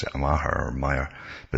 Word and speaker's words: Maher: I generally pronounce it Maher or Maher, but it's Bill Maher, it's pronounced.